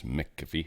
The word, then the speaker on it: McAfee: McAfee, though I think technically not pronounced that way when it's MC, it's McAfee, but whatever.